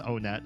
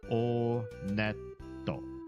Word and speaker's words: Onet: It is pronounced Onet. I did check the Japanese pronunciation. And in Japanese, when you go to this first town, they pronounce it Oneto. Oneto. So, Onet. Whenever I see these guys,